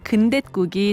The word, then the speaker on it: 근댓국: 근대잎으로 끓인 국인 근댓국이 대표적이죠. 그런데 근대국이라고 하면 틀린다고 하네요. 근대와 국은 순우리말로 결합될 때 뒷말의 첫 소리가 꾹처럼 된 소리로 발음됩니다. 이럴 때는 사이시옷을 적어야 하는데요. 그래서 근대국이 아니라 근댓국, 이와 마찬가지로 무국이 아니라 묻국, 냉이국이 아니라 냉잇국이 맞습니다.